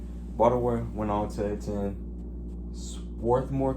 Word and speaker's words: Swarthmore: Baltimore went on to attend Swarthmore College, I believe is how you say it. It's Swarthmore College, where he majored in biology.